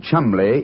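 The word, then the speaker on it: Cholmondeley: Being an American, he had no reason to know that the name Chumley is in no way pronounced the way it is spelled.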